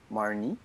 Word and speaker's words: Marnie: T'as pas besoin de le prononcer avec un accent anglais puisque c'est un film japonais.